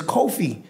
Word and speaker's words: Kofi: town center in Guyana called Kofi square but we call it Coffey the way we pronounce it but it's Kofi right so we we are